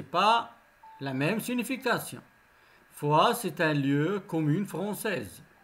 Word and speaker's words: Foix: Comme vous avez remarqué, ici, il y a la même prononciation, mais ce n'est pas la même signification. Foix, c'est un lieu commune française, le Foix.